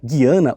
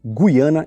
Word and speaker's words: Guiana: TRS Guiana Francesa nota tanto a pronúncia Guiana ou Guiana estão corretas desde o início do